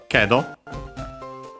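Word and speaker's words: けど: After that, she says kedo. But, however, yeah, that conjunction, accent on the first more.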